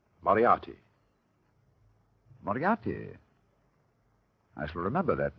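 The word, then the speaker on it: Moriarty: Uh, my name my name is Mertrie.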